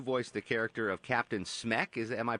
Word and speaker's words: Smek: So you've got a movie out right now called Home, and you voiced the character of Captain Smek. Am I pronouncing that right?